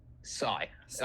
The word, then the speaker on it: Sy: Sai. I mean, you can say Sic. It's pronounced C in French, but Okay.